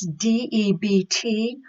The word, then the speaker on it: debt: counselor remember debt is de bTW but the B is silent so it comes out sounding like debt the next with so